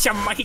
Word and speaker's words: Shimada: I pronounced the name wrong. Shimada. It's Shimada, guys.